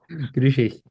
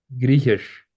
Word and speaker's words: Griechisch: Griechisch. ¿Cómo se dice griego en alemán? Griechisch. Griechisch, Griechisch. como SH, SSH es al final.